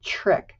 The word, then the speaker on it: trick: We don't say trick, we say trick, trick. It's almost like a little ch sound.